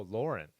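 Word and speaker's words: Laurent: Lawrence vignan Lauren oh Lauren I I never realized it was Lauren but I guess I bet in French they don't pronounce the T right so Laura if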